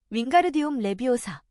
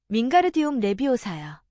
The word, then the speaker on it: 윙가르디움 레비오사: 윙가르디움 레비오사. 론이 긴 팔을 풍차처럼 휘두르며 소리쳤다. 주문이 틀렸잖아. 헤르미온느가 쏘아붙이는 소리가 들렸다. 윙가르디움 레비오사야. 가르를 제대로 길게 발음해야지.